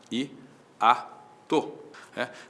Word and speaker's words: hiato: Na própria palavra hiato existe um hiato, i-a-to.